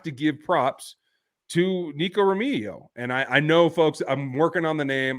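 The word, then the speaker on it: Remigio: give props to Nico romigo and I I know folks I'm working on the name I know it's pronounced as an H not a g it's just getting my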